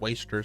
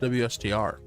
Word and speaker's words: WSTR: It's not pronounced wasters. It's pronounced WSTR.